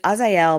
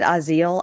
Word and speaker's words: Azael: how did Karen pronounce Azael? Is it Azael? It's Azael, but she said Aziel, I think.